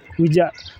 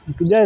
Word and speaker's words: Kuja: You know, when you pronounce it in a Luo, what do you say? Accent. Kuja. Kuna Kuja. Kuja is Swahili. Kuja. But when you do it in a Luo accent, Kuja.